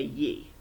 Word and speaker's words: ye: Instead of saying you, they'd say ye. That's what they've got here, just so you know. And just an FYI for your information, it rhymes with we and me.